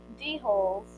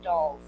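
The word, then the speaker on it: dhole: 14 4 teased off d-holes the light they're pronounced dolls they're pronounced dolls dolls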